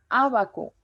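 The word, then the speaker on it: Ábaco: En la antepenúltima sílaba, ahí está el ejercicio. Abaco, abaco.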